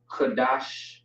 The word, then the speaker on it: Qadash: All right, you got the K, which is by itself, and you have the D and the Sh, which is gonna be dash, not dash necessarily, but it looks the same, just pronounced differently. Qadash, and then we have